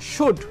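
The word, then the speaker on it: should: তাকে সরি বলা দেখুন আপনি যখন শুড কথার উচ্চারণ করবেন আপনার এই এলটা কিন্তু উচ্চারণের মধ্যে আসবে না শুড শুড মানে উচিত তাহলে আপনি এলটা কিন্তু কোনোভাবেই উচ্চারণ করবেন না যদি করেন তাহলে আপনার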